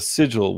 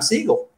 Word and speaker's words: Sigal: corner of the comic so the sigil was the big one and that is why I should have always remembered how to pronounce the process of elimination then signals or incorrect pronunciation throw that away doesn't work because my dad so it's Siegel oh don't you want